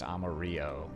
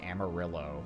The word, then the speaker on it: Amarillo: I always assumed that it was meant to be pronounced amaro, you know, like the Spanish word for yellow, but apparently it's just Amarillo, like it is the Americanized pronunciation.